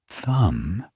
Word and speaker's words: thumb: The word thumb ends with a B, but we don't pronounce it.